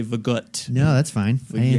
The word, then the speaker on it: Vogt: How do you say your last name? Vogt. It's Vogt, okay.